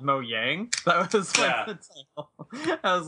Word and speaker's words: Mojang: Mo they're Mojang but that was that was the moyang brand director that said that yeah yeah that's true and the thing is I think it's because they're Swedish so they just pronounce things differently and we've all been pronouncing it the wrong from the beginning because of it but